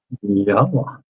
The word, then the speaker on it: Yahowah: This is the proper pronunciation of the name of, oh, there it is, Elohah, Yahowah. with the O coming from the Wah, as directed by his